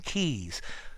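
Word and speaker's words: Quays: Well, the pronunciation's easy, but it doesn't bear a lot to do with the spelling.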